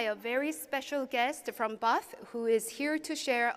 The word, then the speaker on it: HBAF: That brand is HBAF, which is pronounced BAF. The H is silent, but their work is far from quiet.